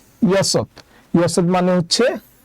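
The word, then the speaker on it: 여섯: Year জন্য আমরা নিলাম হচ্ছে প্রথমে ইয়ং থাকলে উচ্চারণ হবে না, তাই আমরা নিলাম হচ্ছে ইয়। আর এখানে আছে সিয়ত, সিয়তের স নিলাম, আর নিচে আরেকটা সিয়ত আছে, তাই আমরা একটা ত নিলাম, তাই উচ্চারণ হবে ইয়সত।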